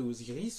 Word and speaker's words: Osiris: Donc avec une vocalisation proprement africaine, nous avons plutôt Waziré plutôt que Osiris. Osiris c'est l'hellénisation, cette façon qu'avaient les Grecs d'helléniser, de rendre conforme à la prononciation grecque, en fait des noms